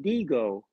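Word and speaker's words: Dihigo: Martin but it's really you don't pronounce the h so it's Martin Deo that's how you say it in Cuba and my grandfather told me that Martin deago was the best player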